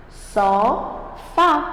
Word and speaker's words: sofá: Sofá. Você pode perceber que é o Fá.